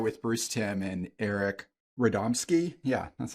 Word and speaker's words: Radomski: got to start with Bruce Tim and Eric radomski yeah that's how you say it and they're